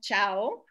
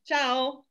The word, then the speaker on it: ciao: goodbye ciao yeah and you can really hear all the vowels in this italian as we were saying with campania is a very musical language and a very phonetic language so um you have three vowels in there and you can actually hear them if you go in slow motion so that's beautiful ciao